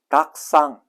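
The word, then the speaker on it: たくさん: 다시 말하면 쿠 뒤에 사형이 오면은 사시스세소 이런 철자가 오면 쿠는 뭘로 된다? 묵음 처리된다. 쉽게 표현하면은 발음이 되지 않고 한 박자 쉬어준다. 탁구상을 닭상 이렇게 발음을 한다.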